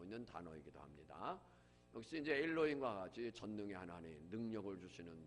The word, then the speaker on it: 엘로힘: 엘로힘, 엘로힘 히브리 발음이에요. 엘로힘.